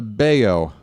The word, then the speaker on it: Bello: It's a beo. Edward. Beo. Rhymes with mayo.